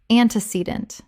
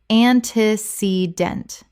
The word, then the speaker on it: antecedent: Word 166, antecedent. Common mispronunciation, an-te-ce-dent. Correct pronunciation, an-ti-ce-dent. Four syllables with the stress on the third.